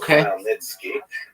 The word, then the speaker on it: Khmelnytsky: It's actually pronounced Khmelnytsky with a guttural at the beginning.